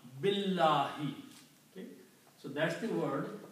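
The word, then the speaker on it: بِاللَّهِ: Okay, so that's the reason we combine this B with lam. Billahi.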